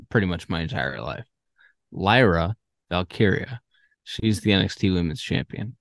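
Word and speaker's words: Lyra Valkyria: is tremendous I also want to apologize for mispronouncing lra Lyra vy's name uh for pretty much my entire life Lyra valkiria she's the NXT Women's Champion and she's uh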